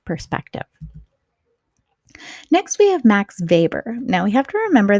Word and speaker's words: Weber: next we have Max Weber now we have to remember that Max Weber is German so that W is pronounced like a V not aw max paper